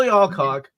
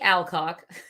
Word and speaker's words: Alcock: heir to the throne of the a mil alock I love saying her name by the way I'm sure I'm mispronouncing it uh you don't know pronounce it alog C now you take a shot Millie Alcock Alcock the younger reneer actress is great in